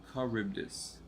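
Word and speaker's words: Charybdis: is that right vtic caribdis car carbus so the H is silent okay Greek monster cool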